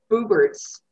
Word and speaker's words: Buberts: insulated yeah no yeah i am pronouncing this as booberts is that right um i would say so i would like i